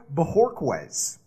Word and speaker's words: Bojorquez: Chris, did I nail that pronunciation or what? I think you nailed the pronunciation.